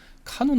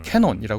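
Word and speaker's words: canon: 민 필요 없죠 그러나 카논 안에 들어가 있는 건 내 생각과 좀 달라도 함부로 표현하지 않죠 그게 이제 카논입니다 캐논이라 흔히 역 발음하고 뭐 카메라도 유명한게 캐논이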